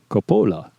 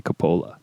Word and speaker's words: Coppola: And it's unless there's an accent mark, it's always the second to last syllable is the stress. So it should be Coppola. I've never heard anybody say Coppola, so I don't know.